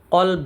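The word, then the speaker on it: كلب: যেমন আমরা যদি কলব বলি আমরা যে অন্তর অন্তরকে আরবিতে কলব বলা হয়। তো আমরা যখন কলবে কলবে বলি তখন সেটার অর্থ হয় অন্তর। কিন্তু আমরা যখন কলবের জায়গায় কালব বলব কালবে। কালব অর্থ হচ্ছে কুকুর। সামান্য একটু ক এবং কা এর পার্থক্য কিন্তু অর্থের মধ্যে বিশাল পার্থক্য হয়ে যায় কলব অর্থ অন্তর কালব অর্থ কুকুর কলব কালব সামান্য পার্থক্য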